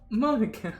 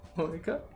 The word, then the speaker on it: Monika: it's writing your name monica monica uh that's not how you say my name at all monika uh also legix makes